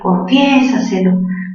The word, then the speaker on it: confiésaselo: Si quieres, confiésaselo todo, confiésaselo. Mayor fuerza, ¿dónde? En la sílaba fie, cerrada, abierta, se une. ¿Qué tipo de palabra es? Es sobre esdrújula. Última lo, penúltima se, antepenúltima sa, tras antepenúltima fie.